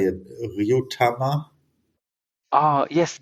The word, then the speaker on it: Ryutama: called I don't know how to say it, Ryutama? Ah, yes, Ryutama. And this one is popular, I think. So, speaking of Ryutamas, I got to a TTRPG shop, Monodraco, and the owner of Monodraco developed Ryutama.